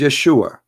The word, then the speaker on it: Yeshua: so and those it isn't because they cannot pronounce the correct word the correct word in the Hebrew is Yeshua as simple as that so it's because it's